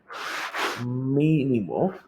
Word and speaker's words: mínimo: Entonces, ese roll-up le vamos a llamar mínimo. ¿Ok? Roll-up mínimo. Mínimo. Acento en ahí, creo. Mínimo.